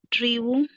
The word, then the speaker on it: tribu: different tribu Tribu, pronuncio la última sílaba, ujú.